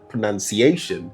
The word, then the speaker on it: pronunciation: We place an O in the word that doesn't exist and make it sound like pronunciation. But while the verb is pronounce, this the nominal form is not pronunciation. It is pronunciation. You realize there's no O over here. So, the proper pronunciation is pronunciation, not pronunciation. Hopefully you've learned something interesting today.